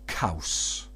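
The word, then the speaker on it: caws: it on their t-shirts c-a-w-s or cows now Kaus is the Welsh word for cheese so there you have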